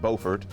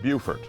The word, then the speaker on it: Beaufort: man they pronounce it beaufort but we in south carolina pronounce it beaufort if you ever confused about that just remember we never sing america the boatiful we sing america the beautiful so beautiful buford by